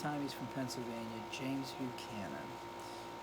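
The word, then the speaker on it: Buchanan: he's from Pennsylvania James who cannon but cannon is how he pronounced it so mccannon from Pennsylvania the only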